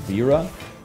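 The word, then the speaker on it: Vajra: It's actually pronounced Vera.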